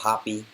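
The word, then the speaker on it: Hoppe: forwards paul areola daryl dk nicholas jacini matthew hop is pronounced hoppy jonathan lewis and giasti zardes and this is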